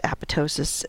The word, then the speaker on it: apoptosis: and cell survival so what is apoptosis and you may have heard it referred to as a pitocin it's just a regional difference in how you pronounce it apoptosis is known as